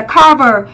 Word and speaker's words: cover: giáo từ này là cover. Mặc dù nó vừa có thể là danh vừa có thể là động, đúng không? Nó là trọng âm dương tiết thứ nhất, mình đọc là cover.